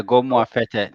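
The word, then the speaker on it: Gomoa Fetteh: He said, "Is it Goma Feta? Is that how you pronounce it?" Yeah, go more fete.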